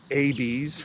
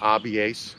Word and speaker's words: Abies: Balsam fir is abies or abies, however you want to pronounce it.